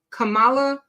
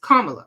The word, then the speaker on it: Kamala: Hampshire libertarian party says anyone who assassinates VP Cala Harris Kamala sorry because I keep saying it wrong VP KLA Harris would be an American Hero and this